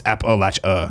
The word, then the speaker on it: Appalachia: Appalachia somebody wrote in like you offend us when you say it wrong it's Appalachia and I'm like I don't